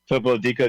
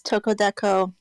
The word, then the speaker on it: Toko Deco: Toko Dico, did you have a question? Hi, yeah, it's Toko Deco. It's all right. Everybody mispronounces it though.